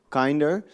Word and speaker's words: Kinder: It's called Kinder. So for all German-speaking people, we are Kinder. We are kinder, the English way to pronounce it, which means that we